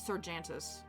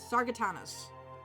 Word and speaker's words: Sargatanas: I always read this as Sargantus. Sargatanas.